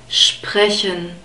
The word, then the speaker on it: sprechen: Okay, so you have to bring the sh sound and the P, which is produced in the front, and the guttural R together somehow, sprechen.